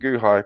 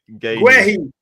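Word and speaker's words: Guéhi: Mark Guhai. You need to stop savaging people's name. How do you pronounce his name? Guehi.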